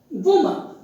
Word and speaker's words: woman: How is it pronounced? Generally people pronounce it as woman. They look at the letter O and A and they pronounce it as woman. No, the correct pronunciation is woman. Look at the vowel sound. These two sounds. So the pronunciation is woman, not woman.